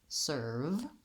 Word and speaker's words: serve: Once I can say I'm going to add in my S sound, sir, same as this type of sir. And then lastly, I want to close to my V sound. To make the V sound, make sure the lower lip and the upper teeth connect, the sound continues, and that I'm not blocking the air or rounding the lip.